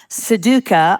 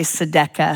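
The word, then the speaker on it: tzedakah: It's pronounced seduca, almost like the game, math game you play in the airport, but not quite. It's a Hebrew word. Some say sedca.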